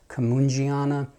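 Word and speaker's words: cumingiana: Now, you will most often hear this pronounced Camungiana. It's a hard G because you are, in theory, supposed to pronounce it as closely to the person it's named after as possible.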